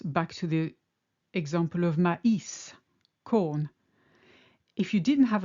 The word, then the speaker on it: maïs: Similarly, in maïs, it indicates that both the A and the I are pronounced distinctly, maïs.